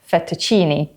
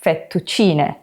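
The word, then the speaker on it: fettuccine: in Italian as an E sound like in fetuccini. But actually the letter E in Italian is pronounced as E. So we get fetuccini.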